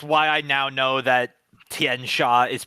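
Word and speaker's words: Tian Xia: It's it's why I now know that Tien Sha is pronounced that way because their source books like this is how you pronounce it.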